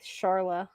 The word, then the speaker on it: Charla: I always put like a k sound with the C. I'm okay. I'll put it like Charla.